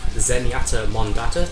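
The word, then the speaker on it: Zenyatta Mondatta: Zenyatta Mondata by the Police, or Zenyatta Mondata to pronounce my T's properly, so you people on the other side of the pond or whatnot can understand me.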